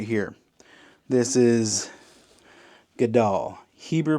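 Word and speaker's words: גדל: This is Gadal. Hebrew pronunciation, Gadal.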